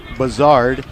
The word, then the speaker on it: Buzzard: b-u-z-a-r-d with one z they call him buzzard but bizarre is how you say it there's another throw over